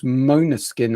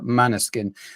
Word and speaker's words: Måneskin: I'm gonna have to try and pronounce this properly, but I think it's Måneskin as opposed to Maneskin.